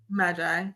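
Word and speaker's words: maji: was died for being Magi or Magie is that how you say it Magi yeah they say Magi oh I was right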